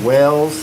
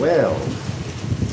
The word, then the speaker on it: Wells: Tell me that wells is pronounced like the fish, not like the thing you dig.